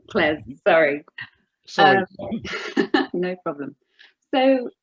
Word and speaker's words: CLES: Not CLEES. Not CLEES. No. Not John CLEES, but no, CLES.